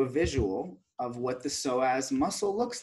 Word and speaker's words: psoas: I wrote here that so as muscle you see it's it's spelled with a PE but it's pronounced like with an S okay and it's right